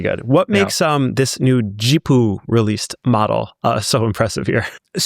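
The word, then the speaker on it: Zhipu: So it says Jipu, but I'm aware that it's not actually pronounced Jipu. It is Jipu. Jipu.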